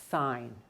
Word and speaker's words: sign: a sight word because it's spelled s-i-g-n sine i can't tell you why there's a g there i don't hear it and it really doesn't do anything so sign is one